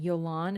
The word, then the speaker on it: Yolan: Yolan is how you say the name.